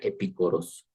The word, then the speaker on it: epicoros: el tema o es esta palabra que se pronuncia epicoros epicordio decía pues De